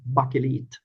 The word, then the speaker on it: Bakelit: way you like but in Swedish it Bakalit bakalit.